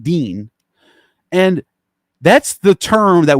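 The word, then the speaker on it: دين: It's called deen, D-I-I-N, or however it's spelled in Arabic, deen.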